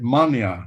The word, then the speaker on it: Manea: They say it Mania in Romania.